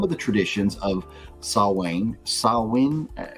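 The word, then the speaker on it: Samhain: of and this says it looks like Sam ha but uh I've learned that it's like sawin sawin I think is how you pronounce it sawin uh when people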